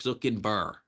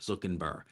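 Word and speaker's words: Zachenhuber: Zukin Burr is how you pronounce this guy's name. Simon Zuckerberg. Zuckenber.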